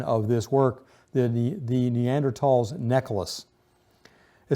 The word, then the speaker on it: Neanderthal: uh said to be Neanderthal man now the spelling of it used to have an h and we all pronounce it Neanderthal but recent years that